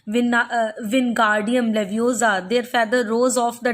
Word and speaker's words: Wingardium Leviosa: Wingardium Leviosa, he shouted, waving his long arms like a windmill. You are saying it wrong, Harry heard Hermione snap. It's Wingardium Leviosa. Make the gar nice and long.